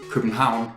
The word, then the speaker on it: København: You say København. It's spelled like this in Danish.